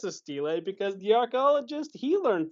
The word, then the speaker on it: stele: So actually, I've been pronouncing it wrong the entire time because I've said stele, and it's actually pronounced stele.